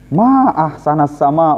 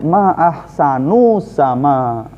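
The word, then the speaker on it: ما أحسنَ السماءَ: ahsanasama Harusnya kayak gini Ma ahsanasama harusnya dibacanya kayak gini ahsana nah ini baru tuh ini artinya jadi Syekh itu Syekh bagus banget gitu cuma dia ngomongnya ma ahsanu sama jadinya bertanya Nah si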